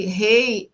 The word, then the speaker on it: Hey: Ela tem essa pronúncia, né? Rei. É, é como aquele H de horse em inglês, né? E esse H, que é um H aspirado, ele vem como um sopro.